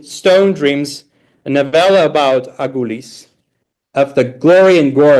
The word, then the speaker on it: Agulis: And this is the most important town in that region, the town of Agulis, that Azerbaijanis pronounce Aylis, a town dotted in 12 majestic churches that were founded by the apostles and rebuilt by medieval merchants.